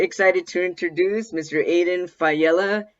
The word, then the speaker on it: Faiella: to introduce Mr Aiden fella did I say your name correct yes thank you I'm excited to be here even more excited that you pronounced it right that's exciting than you